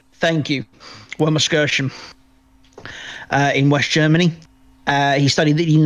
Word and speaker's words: Wermelskirchen: I tried to pronounce Wermelskirchen. Thank you. Wermelskirchen.